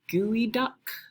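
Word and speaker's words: geoduck: good one to Google is the gooey duck clam and that's spelled Geo duck uh be prepared it's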